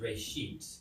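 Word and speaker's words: רֵאשִׁית: Genesis comes from a Hebrew word, it's pronounced reshit, and it just means beginning.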